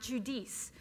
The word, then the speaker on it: Giudice: come and they say how do you pronounce your name and I'm like judice judice like Jewish geese judice and like and they